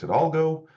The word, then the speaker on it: Hidalgo: Alex Hidalgo, who wrote the book on SLOs. We literally talked before the webinar that you don't pronounce the H.